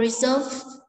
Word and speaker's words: reserve: Ở đây chúng ta có từ reserve là giữ gì? Giữ lại, trọng âm số 2, động từ.